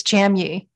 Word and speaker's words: Jamye: And I'm like, no, if you're hooked on phonics, which is how I learned to spell, if you're hooked on phonics, it's Jamye.